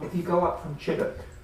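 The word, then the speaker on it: Chideock: If you go up from Chiddock, never pronounce it Chidiock when you're down there, because people laugh at you, as I discovered in the pub.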